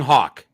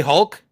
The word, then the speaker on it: Hulk: I pronounce his name and it sounds like I'm talking about a bird. So, the Incredible Hulk. You're saying Hawk? Yeah. You can't say Hulk?